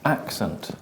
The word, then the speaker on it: accent: In English, it's different because we want to be difficult. So we start off the same, a, very similar, then we go k, s, but we don't have the e, we have the schwa. And where is the stress? On the first syllable.